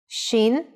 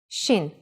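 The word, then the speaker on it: שין: it looks different though Shin Shin is pronounced sh when the dot is on the upper right side if the dot in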